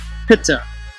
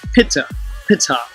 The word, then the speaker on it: Ptah: of the deity called Ptah, or Ta, if you use the silent P, Pitta, which was phonetically pronounced Pitta, and I'll portray how